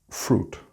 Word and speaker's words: fruit: The word is really easy because it's the exact same pronunciation as the Spanish word with the same meaning, but without the A at the end. Fruit, fruta. It's not fruit.